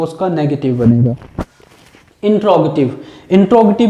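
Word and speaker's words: interrogative: ठीक है, आपने इसको इंटेरोगेटिव सुना होगा, और मैं जो बोल रहा हूँ इंट्रोगेटिव, ये एक ट्रांसक्रिप्शन, इसका एक्चुअल जो प्रोनाउंसिएशन है वेरी क्लोजेस्ट, वो मैं आपके सामने प्रोनाउंस कर रहा हूँ।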